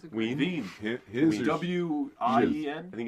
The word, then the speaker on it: Wien: Veen. His or W-I-E-N? I think it's EIN. E-I-N, I don't know. Wien. However those, what are those Wien? Europeans doing? Wien. dang Ween. Well, but it's like Veen.